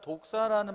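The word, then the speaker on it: δόξα: 함이니이다 아멘 여기서 사용된 영광이란 단어는 헬라어로 읽으면 독사라는 발음처럼 이렇게 됩니다 이것은 흔히 영광을 돌린다는 뜻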